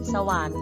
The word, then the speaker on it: สวรรค์: ไป นะ ครับ 3 ถ้า รอ หัน อยู่ หลัง ที่ ยัง ชนะ และ ที่ ตัว การันต์ อยู่ หลัง ระหัน ให้ ออก เสียง เป็น อัน เช่น คัน อ่าน ว่า ขอ อะ นอ คัน คัน สวรรค์ อ่าน ว่า ว่า สอง อะสะ หอ วอ อะ นอ หวัน สวรรค์ อัศจรรย์ ก็ อ่าน ว่า อ.